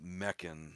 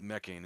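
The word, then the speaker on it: Mekhane: Greece and basically they worship a being called mechan or mechan depends on the you know pronunciation people pronounce it different ways but mechain is usually the common pronunciation um and it's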